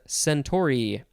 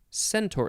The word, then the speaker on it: centaur: our last word is centauri or is it century centaur it's a centaur i don't know how